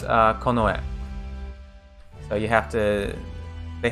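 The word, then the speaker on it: 近衛: When you put these two together, this one is pronounced kin, or it's pronounced chika, and this other one's pronounced e, but you put them together, and it's konoe.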